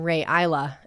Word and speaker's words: Rae Isla: Hey, what an auspicious day to share that I'm pronouncing my name Ray Isa and uh we're doing an island song.